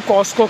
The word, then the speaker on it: Costco: तो गाइज अभी मैं हूँ कॉस्को के अंदर, COSTCO, COST, T for tiger, T silent है कॉस्को।